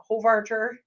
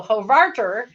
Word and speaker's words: Hovarter: Hovarder. Oh, that's the problem. I got the emphasis on the wrong syllable there. So Hovarter, for her diligence in